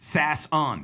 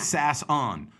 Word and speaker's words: Sasson: But S-A-S is sass. Son, this is my son, is S-O-N. So S-A-S-S-O-N. Boom, Sasson. But whatever, who cares?